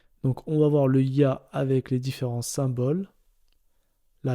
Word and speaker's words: ي: Alors la deuxième lettre voyelle qu'on va voir aujourd'hui, c'est le ya. Donc quand il est en lettres, il se prononce ya, comme un y en français.